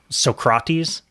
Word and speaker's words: Socrates: French one you really soak rotties soak rotties instead of Socrates instead of soccer well